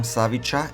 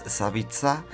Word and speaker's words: Savica: Slap Savica, not like I pronounce it all the time wrong, Savica, it's Savica, and he is 38 meters high.